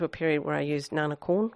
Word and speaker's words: Na Nagara: period where i used nanakulin which is the correct pronunciation the thai pronunciation um and then when